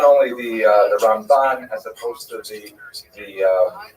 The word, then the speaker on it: Ramban: Rambam is pronounced with the emp and rambut is pronounced with the emphasis on the second syllable. Rambam and Ramban.